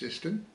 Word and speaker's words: Siston: The last bridge you came to was Siston Bridge, which is pronounced Siston.